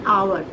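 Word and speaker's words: hour: जैसे आवर, तो एच से स्पेलिंग चल रही है पर एच इज साइलेंट, तो आवर।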